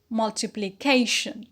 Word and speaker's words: multiplication: root derived word is multiplication multiplication the primary is on k on the penalty because of the line rule and the secondary is